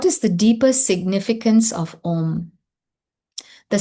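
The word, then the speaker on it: ॐ: So this is how we can pronounce om. We don't have to actually pronounce the ah separate because the sound om on its own includes the ah and the u.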